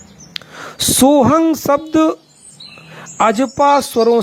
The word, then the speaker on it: सोहम: समय चल रही है वहां सोहंग शब्द का उच्चारण सोहंग किया जाता है यानी लिखने में तो सोहम है मगर इन प्राचीन परंपरावादी गुरुओं के माध्यम से जो इसका उच्चारण करते हैं वह सोहंग करते हैं तथा व्याकरण के विद्वान बुद्धिजीवी वर्गों में इसका जो उच्चारण होता है वह श हम होता है इस पर मैंने बहुत